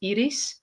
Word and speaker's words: Iris: name is Iris um I'm originally from the Netherlands so my name is actually pronounced Eis and um I grew